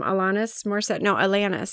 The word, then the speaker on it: Alanis: Can I just say too, I want to point out it has a foreword from Alanis is how you pronounce it.